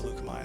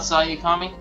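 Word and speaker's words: Saleucami: And by the way, I did double check the pronunciation of it, and according to Clone Wars, Seleucami is how it's pronounced. Oh, so it's not Sayakami?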